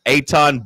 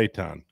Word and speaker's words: Eitan: Eitan Borg is how he pronounces the name. Eton or Eitan? A-Y. Capital A, capital Y is the pronunciation guide. So Eitan. Yeah. Eitan Borg. Capital A, capital Y, dash T-A-H-N. So Eitan.